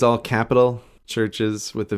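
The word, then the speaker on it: CHVRCHES: it's by a band called churches but churches is spelt with a V instead of a u okay okay and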